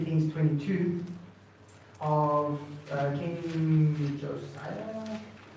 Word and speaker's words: Josiah: We also, I want to read for you a piece in 2 Kings 22 of King Josiah. How do you pronounce it again?